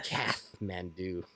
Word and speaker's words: Kathmandu: I didn't realize there's a silent H in Kathmandu. Yeah. Kathmandu. Kath.